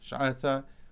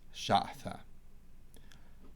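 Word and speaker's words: ܫܥܬܐ: It's shin, tau, alep, shatha, or in Eastern, shatha.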